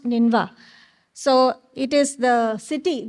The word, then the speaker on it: Nineveh: In the Assyrian civilization, it is actually, you can see it's spelled as Nineveh, but it's pronounced Ninva.